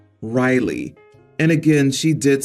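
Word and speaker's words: Ryligh: another name r y l i g h Riley and again she did spell it out I V toed it and suggested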